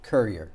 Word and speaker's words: Currier: Is it Currier or Currier? Currier. Currier, no French pronunciation on the end of that.